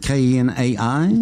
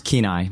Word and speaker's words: Kenai: hour anyway you grew up in kin isaac ke na I pronounce Kenai P na ya Kenai Alaska in Alaska right